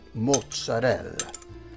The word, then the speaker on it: mozzarella: You have to say it like that, mozzarella.